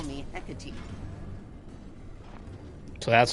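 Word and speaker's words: Hecate: Just call me Hecati. So that's how you pronounce that.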